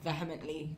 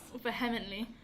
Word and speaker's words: vehemently: Vehement. How do you say it? I've never said it out loud before. It's like vehicle. Is that not how you say it?